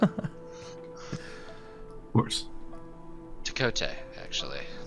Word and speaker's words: Tkote: The T is silent. Of course. Takote, actually.